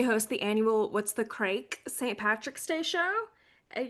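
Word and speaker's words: craic: She hosts the annual What's the Crake St. Patrick's Day show at Yeah, Union what's Hall. crack? It's pronounced like crack.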